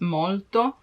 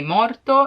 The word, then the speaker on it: molto: is to use Tonto because if you cannot pronounce molto in a perfect way you may be misunderstood and if you say morto it means dead so yeah molto tanto